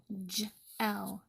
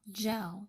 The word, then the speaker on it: gel: G can say g or it can say j, like in wage. That's called a soft G. And in the word gel, gel, because gl is not a word.